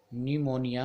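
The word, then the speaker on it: pneumonia: YouTube है और निमोनिया ए P silent इसमें न्यूमोनिया मैंने कौन से टिप्स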